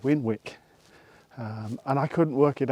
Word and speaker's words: Winwick: abbreviated to win and so it became winwick so when Wick sounds silly but it probably is the right way of pronouncing it even though I'm pretty certain the locals probably called it winok or winick because it's easier to say so I'm not going